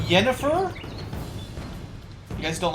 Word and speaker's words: Yennefer: The J is pronounced Y. Probably just depends on uh what what country you're from, what culture you have. Yennefer is okay, but Jennifer would be the normal way I would say it too in real in real life.